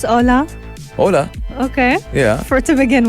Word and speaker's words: Hola: Hola. Okay. Yeah. For to begin with. Yeah, what did I say? Holo.